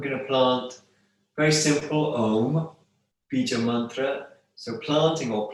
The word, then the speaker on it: Om: Make sure you pronounce Om as in Om, not as in bomb, like Om. It's Om.